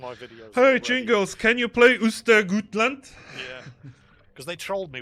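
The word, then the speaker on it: Östergötland: Jingles, can you play Ostergötland?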